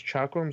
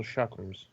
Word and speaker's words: chakram: Can't remember to pronounce chakrums or shakrams. I'd guess shakrams, but it's just a guess. It's it varies between person to person. They're both correct.